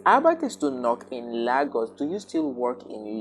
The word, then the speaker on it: Lagos: The pronunciation is Lagos and not Lagos, as so many Nigerians might want to pronounce right now.